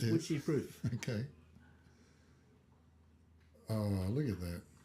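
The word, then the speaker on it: Wycheproof: Witchie Proof. It's spelled as you're saying. It sounds a bit like witchy poo, but it's witchy proof.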